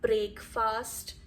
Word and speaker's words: breakfast: It's not breakfast, it's breakfast. Breakfast. A quick sound, A is silent, both the A's are almost silent.